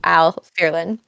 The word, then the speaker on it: Æl Fierlen: Now, not where I'm from, obviously, but the ash letter is meant to make that noise, so Æl Fierlen, and so that's why it's pronounced that way. Everyone confuses it with Latin, where the ash makes the A sound. Just because Æl Fierlen is Old English, not Latin.